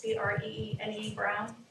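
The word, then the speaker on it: Brené Brown: And then one last thing I just wanted to mention was, Brene, it's like Renee with a B, I'm saying it right, it's Brene Brown.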